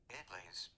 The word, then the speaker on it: idli: Pronunciation. Oops. It'll take me too long, Venba, don't worry. Idlis.